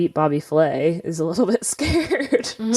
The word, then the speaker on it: Flay: you're calling him bobby fillet bobby flay flay not like fellaio fish no it's not filet fish i'm just saying it